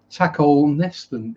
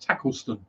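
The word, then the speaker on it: Tacolneston: garbochum uh costa c is pronounced cossie uh taco neston is pronounced tackleston and christ windham jesus that's about why mondham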